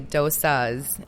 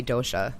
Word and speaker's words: dosha: three doas or dosas how do you say it in Sanskrit you say dosas okay and then in well in the western Society you say Dosha all right we'll say